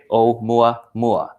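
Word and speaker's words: ʻOumuamua: Pronounced means to say, okay, say it Oumuamua, which is Hawaiian for a messenger from afar arriving first.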